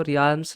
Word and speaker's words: realms: रहे हैं रेल्स तो रेम्स बेसिकली क्या होते हैं इसमें ए साइलेंट होता है तो आप यह बात याद रखना कि इसको रिम्स नहीं पढ़ते रेम्स पढ़ते हैं और स्पेलिंग भी जब